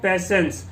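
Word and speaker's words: patience: आप यहाँ देख रहे होंगे कि यहाँ पे TIE है, लेकिन इसको हम यहाँ पे जो है TE तो नहीं पढ़ रहे ना, T साइलेंट में चला जाएगा, हैव पैसेंस बन जाता है यहाँ पे।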